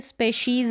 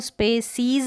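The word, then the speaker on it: species: यहाँ पर देखिए स्पेशीज़ है, इसको स्पेसीज़ ना पढ़ें, स्पेशीज़ है, जैसे यहाँ पर मैंने प्रोनाउंसिएशन लिखा है, यहाँ पर इसका ध्यान रखें, इसके अनुसार ही इसको पढ़ें।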